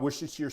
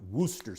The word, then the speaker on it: Worcestershire: 15 milliliters and by the way it's not wish this year sauce is correctly pronounced Worcester sauce but it's spelt like which Esther's here